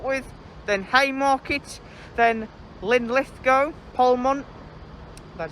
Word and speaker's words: Polmont: Stops along the way include Edinburgh Waverley to start with, then Haymarket, then Linlithgow, Polmont, that's how you pronounce it, Falkirk High, Croy, and then Glasgow Queen Street.